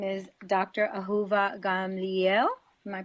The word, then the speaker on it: Ahuva Gamliel: she's actually a doctor her name is Dr aova gamli am I pronouncing that correctly yes that's great yes that's CL close enough well you say it let's see how you would say it Dr aova Gamel Gamel not so bad I did good okay